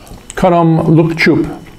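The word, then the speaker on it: Khanom Luk Chup: But yeah, that is, let me get the pronunciation right again here. Kanom Look Choup, or simply Look Choup.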